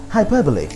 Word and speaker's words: hyperbole: a for effort at least um the correct pronunciation of the word is hyperbole hyperbole hyperbole i don't know what that is